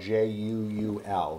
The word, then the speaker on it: Juul: And Juul is spelled J-U-U-L, that's correct? Right. If any, you know, yeah, people are wondering what we're saying, it's not J-E-W-E-L. Like, yeah, Juul, that's right. J-U-U-L. Exactly. J-U-U-L.